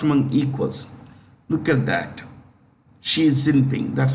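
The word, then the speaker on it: Xi Jinping: is the first one equals look at that she is simping that's how you pronounce it she she zipping she's in pink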